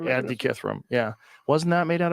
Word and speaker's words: Antikythera: Antikythera. Antikythera.